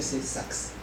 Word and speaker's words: SOx: Now you can pronounce it as NOX. Or you can just say NUX. And for SOX, you can say just say sucks.